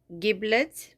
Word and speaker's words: giblets: a soup from the giblets okay they say that you have to pronounce this with the soft G like gin giblets I don't know I